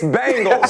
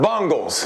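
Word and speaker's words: Bengals: talking trash too but it's bangles say it right it's not bungles that was for you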